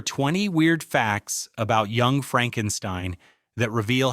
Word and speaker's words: Frankenstein: My name, it's pronounced Frankenstein. Young Frankenstein wasn't just a parody of classic horror.